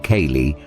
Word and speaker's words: ceilidh: At a sy pronounced kayali, friends and strangers come together to dance, laugh, and enjoy traditional tunes.